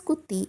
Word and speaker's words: Gooty: Gautamipuri it was, changed to Gooty during the reign of British, pronounced as Gutti as it was called by neighbouring towns due to the cluster of hills as viewed from their place.